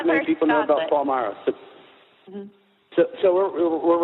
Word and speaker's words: Palmyra: You're in, how do you pronounce it, Palmyra? It's in Palmyra, Pennsylvania, which is about 10 minutes from Hershey,